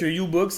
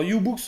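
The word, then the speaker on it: YouBoox: bon ben voilà voilà donc comme ça donc ububox hein si tu nous écoutes hésite pas alors ububox on rappelle ça s'écrit y o u B O O x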